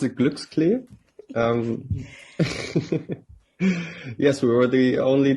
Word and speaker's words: Glücksklee: Yes, well, you pronounce it Glücksklee.